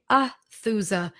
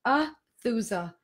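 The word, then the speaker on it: Aethusa: It's spelled A-E-T-H-U-S-A, Athusa. The E is silent, Athusa.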